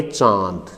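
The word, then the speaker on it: चाँद: जैसे हम उच्चारण करेंगे चांद, ये चांद नहीं होता, बल्कि क्या होता है, चांद।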